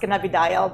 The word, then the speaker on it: cannabidiol: can of a goal no it's pronounced cannabidiol blah blah blah yeah